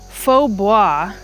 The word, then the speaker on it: faux bois: It's kind of a weird word. It's a French word. So it's spelled very differently. If it's Faux bois. So it's not really pronounced how it would be spelled if it was in English.